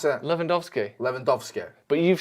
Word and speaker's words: Lewandowski: don't you robert yeah but how did you pronounce it lewandowski levandovsky but you've said it four times tonight upstairs and got it wrong every time what what you said willandowski one time landovsky that was a completely misspeak yeah misspoken and